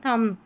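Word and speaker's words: thumb: पढ़ेंगे अब यहां पर जो बी है वह साइलेंट है और लास्ट में आता है क्लाइम कॉम थंब बी को नहीं पढ़ना है ठीक है 51 पर है टीसीएच इसको च पढ़ते हैं।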